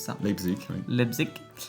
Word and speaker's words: Leipzig: Je sais pas comment on prononce ça. Leipzig, oui.